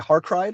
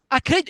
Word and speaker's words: Acrid: Harkrid or Harkrid? Acrid, yes. Acrid, yeah.